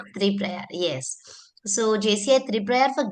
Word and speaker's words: Triprayar: Have I pronounced it properly sir? Three prayer. Yeah. Yeah. Yeah. That's right. Three prior.